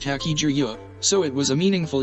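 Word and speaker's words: 八十: In Japan, the number 80 is pronounced Haki-ju-yo, so it was a meaningful year for Haki.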